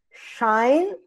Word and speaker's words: Scheinflug: E o sobrenome é como se fossem duas sílabas. Scheinflug.